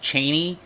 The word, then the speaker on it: Chani: in the fremen and it's not actually pronounced chaney it's pronounced cheney um i've heard frank